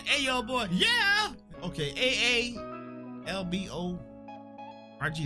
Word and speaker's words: Aalborg: We got Odense to Aberg, DK, Budapest. Okay, whoa. How do you spell that? Aberg. Yeah. A. Boy. Hey, yo, boy. Yeah. Okay. A A L B O R G. Like cyborg.